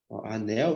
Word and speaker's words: anel: barras aqui ó paralelas como eu pronuncio anel anel você tá pronunciando assim né tá vendo Então esse L aqui tem som de u logo na palavra